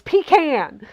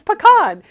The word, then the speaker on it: pecan: having this debate and Mary is like I'm from the it's pean I was like no it's pecan and Ian was like